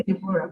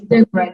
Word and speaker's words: Deborah: I don't know if people say Deborah, but the right pronunciation of my name is Deborah. The O is silent.